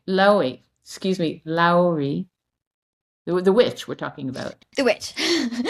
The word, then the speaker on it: Louhi: little bit of searching because she's usually portrayed Loey Loey excuse me Lowi the witch we're talking about the witch